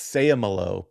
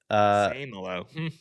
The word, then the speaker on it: Seumalo: I'm told it's Seumalo, by the way. Same hello.